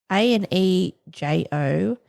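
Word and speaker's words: añejo: Is that how you say it? Anjou? Anjou or Anjou? Anejo. And then 8 Reserve, and it's like in the shape of an 8.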